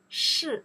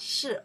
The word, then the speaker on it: 是: 你们是 You are 是 is are in that case. 是 This character we pronounce 是 right?